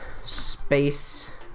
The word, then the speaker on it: Sapce: Space. Oh my god. Saps, we'll just leave it like that. That's fantastic, actually. Space. It's S-A-P-C-E, but we pronounce it space.